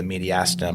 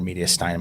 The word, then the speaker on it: mediastinum: But so tension pneumo is where there is so much air or blood buildup that the mediastinum or mediastinum, I think you can pronounce it either way.